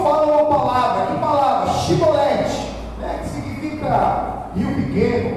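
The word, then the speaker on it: Shibboleth: Então ele dizia: dize, pois, Shibolete. Porém ele dizia Sibolete, porque não o podia pronunciar assim bem.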